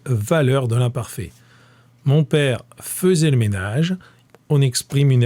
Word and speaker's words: faisait: Ça s'écrit faisait, mais ça se dit faisait.